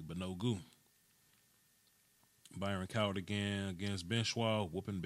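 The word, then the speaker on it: Banogu: No, that's my son's brother, Bonobu. Okay, cool. Yeah, Bonogu. I got to make sure I say his name correctly. Bonogu.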